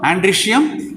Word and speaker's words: androecium: We have to see, calyx, corolla, androecium and gynoecium. Take this word, androecium, A-N-D-R-O-E. E is a silent, we should not pronounce it. Now, O is a silent, E is a pronounced.